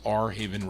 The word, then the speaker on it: Airhaven: this is for Ryan Heise Johnny fortune on airhaven records are r a r pronounced R Haven records it's called I'm